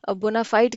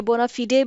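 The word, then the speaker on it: bona fide: वो ऑर्गेनाइजेशन जो है वो बोनाफाइड कह लें या बोनाफाइडी कह लें, ठीक है। या बोनाफिडे भी इसकी एक प्रोनाउंसिएशन है, तो इसके दो तीन प्रोनाउंसिएशन हैं इस वर्ड की, ठीक है जी।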